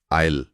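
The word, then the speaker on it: isle: अब दूसरे शब्द पर आते हैं आईल जिसकी स्पेलिंग है आईएसएल आईएसएल यहां भी स साइलेंट है और उच्चारण आईल ही है सही यह भी एक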